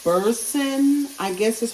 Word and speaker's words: Boursin: It's Boursin, I guess is how you pronounce it, Boursin.